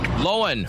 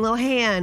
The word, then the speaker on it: Lohan: heard rip i heard we've been saying it wrong all along if you've been saying it correctly good for you but lindsey hey everyone it's lindsay lohan and guess what now i'm on tick-tock lowen lowen she wants to stop saying lohan it's not lindsay lohan